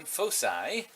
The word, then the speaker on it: foci: side to side or foci if you'd like but I that's the plural form I prefer the soft C as we would do in Latin fahsai and yeah so there's